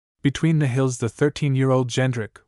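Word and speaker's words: Jędrek: Polish spelling, Jedrek, pronounced as given, Jendrik, with the French sound of N.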